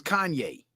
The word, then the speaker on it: Kanye: him out and I didn't know how to pronounce his name. So, I'll call him Kane West until I learned his name was Kanye. But that hand, man, those